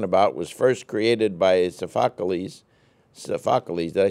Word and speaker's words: Sophocles: The classic Greek tragedy, which we're talking about, was first created by Sophocles, did I say it right? Sophocles, right.